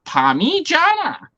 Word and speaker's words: parmigiana: And it's pronounced Parmigiana. You're not wrong.